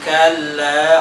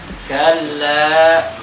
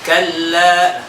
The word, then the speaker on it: كلا: Contoh tadi kalla langsung kalla nggak boleh kalla langsung كلا isbah lagi kalla isbah lagi kata Syekh Aiman Rushdie isbahul harakat lahan jali. Kenapa lahan jali? Karena seakan-akan kita menambahkan huruf mad di situ. Seakan-akan kita nambah alif setelah kaf.